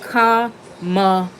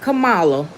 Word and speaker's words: Kamala: Side note, it's pronounced Kamala, not Kamala, not Camilla, Kamala.